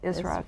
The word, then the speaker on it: Israfil: You'll have to pronounce that, Israfil.